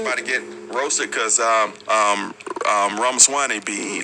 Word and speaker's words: Ramaswamy: Yeah, it's like Ramaswamy, like CD-ROM, but yeah. Well, I said Ramaswamy. Yeah, you got it. Ramaswamy.